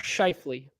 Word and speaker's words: Scheifele: multiple times then I forget it it's Mark scheifele so we I think I mean well okay